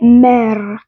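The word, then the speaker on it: mère: बता रही हूं उसमें कुछ में तो आर को प्रोनाउंस किया जाता है अर अर आर is pronounced as अर but some times it's silent तो इट्स लाइक मै मै सो दे नॉ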